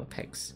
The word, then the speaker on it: Pax: Slash raid Pax. Peg? No, Pax. Pax Goblin. No, you spell it? It's Pax, right? Yeah, okay, it's Pax.